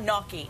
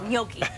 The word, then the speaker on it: gnocchi: So Mom, sorry, it's not gnocchi, it's gnocchi.